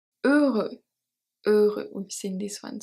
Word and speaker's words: heureux: Heureux, we've seen this one. So the H is silent and the X is silent as well.